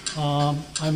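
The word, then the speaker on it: Ai: I'm working in the Primate Research Institute, Kyoto University. There is a group of 14 chimpanzees. My partner is called I, spelled A-I, pronounced like I, meaning love in Japanese.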